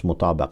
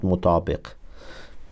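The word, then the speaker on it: مطابَق: I read mutabaq. I pronounce mutabaq, not mutabiq.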